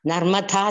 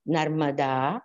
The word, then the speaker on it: Narmada: death ritual of Bali, when a pujari tells me, Narmatha Sindhu Kodavari, I'm disturbed. It has to be pronounced in the right way as Narmada, Sindhu, Godavari. It's all mrudus.